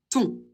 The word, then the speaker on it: ton: Pour le possessif masculin singulier, O et N, ça fait toujours on va le prononcer ton.